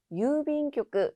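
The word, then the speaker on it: 郵便局: 유빈교크. 주의하실 점은 중간에 있는 장음 그리고 타금, 교크라고 발음되는 점 주의하시면 되겠습니다.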